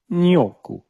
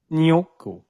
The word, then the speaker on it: gnocchi: And they said, oh, you mean gnocchi is what that's actually Who? called. Yeah. Wait a minute. Say that one more time. Yo, It's actually pronounced nyoku. Noku. Nyoku. Okay.